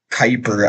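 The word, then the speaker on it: Kuiper: Uh, this is the project Cooper guy, by the way. Uh, if anyone's curious, uh, that space guy used to pronounce project Kyper as Project Cooper.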